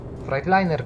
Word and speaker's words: Freightliner: A może Freightliner Cascadia? Jezus, jak ja nie lubię tej nazwy, nie podoba mi się, jak ktoś mówi Freightliner, to Freightliner, ale no dobra, Freightliner się powinno wymawiać po ichniejszemu, to niech będzie.